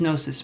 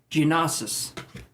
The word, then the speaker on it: gnosis: here now what does gnosis mean you would think this is pronounced genesis but you would be wrong because that sounds like